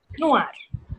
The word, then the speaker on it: noire: Noir is the masculine form and the feminine form is with a E. Noir. Noir. Noir. Okay. Feminine is? Noir. Same sound. Okay. Noir. Oui. Noir and noir.